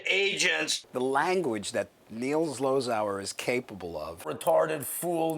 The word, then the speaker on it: Zlozower: The language that Neil Zlozower is capable of.